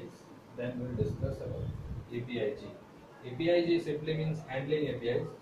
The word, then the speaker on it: Apigee: We pronounce it as Apigee.